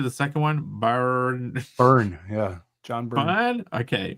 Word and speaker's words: Byrne: Burn, yeah.